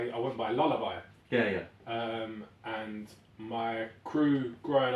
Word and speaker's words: Lulla: And they struggle with pronunciation a lot. I get a lot of like Lulas and whatever else.